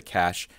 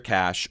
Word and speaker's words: cache: to be talking about how to clear the cache in firefox for windows or mac os typically